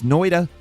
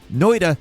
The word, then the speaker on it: Noita: Starting off at number 10, it's Noita. Yes, I say it like it's a D. That is my Midwestern accent.